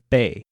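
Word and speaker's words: 八: After that, we learned that 7 is called chit, and 8 is bei. The number 9 is pronounced gao, as in gao jia gao, for 9 dogs.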